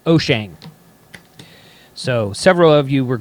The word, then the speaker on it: Wouxun: Oh Jane walks on whoosh whoosh on it's pronounced O'Shane so several of you were gracious enough to